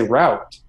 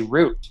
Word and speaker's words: route: a word choice like we say route right americans say root i mean i can say root yeah i hate the